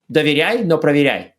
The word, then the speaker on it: Доверяй, но проверяй: You can make that rhyme if you say it in Russian. Oh. Yes, it rhymes in Russian. That's the original proverb in Russian, does rhyme, yes.